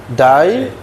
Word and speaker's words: die: Die. Ini dibaca I. Lie, tie. Hah? Kalau diakhiri dengan IE. Jadi I.